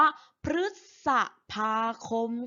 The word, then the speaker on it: พฤษภาคม: พาน นะ คะ รึ อยู่ หลัง พ. พาน อ่าน ว่า พฤษภาคม ค่ะ ตัว อย่าง หรือ ที่